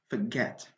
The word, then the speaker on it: forget: stressed ok so just forget okay we have two syllables in this world and the stress is on the second syllable get forget not the first one we don't have to